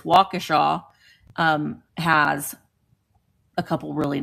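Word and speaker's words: Waukesha: I cannot for the life of me think of the name of them, but um Wakaaw, it looks like it's spelled Wakkesha, but it's Wacaaw um has a couple really nice ones that I liked going into.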